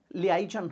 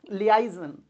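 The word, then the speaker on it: liaison: लियाइजन होता है। इसका स्पेलिंग क्या होता है? ली, एल आई Lee, eigen, A आई एस ओ एन, ये होता है लियाइजन।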